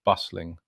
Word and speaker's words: bustling: After a few repetitions, you start to notice the stress on the first syllable of bustling and the way sensory flows into overload.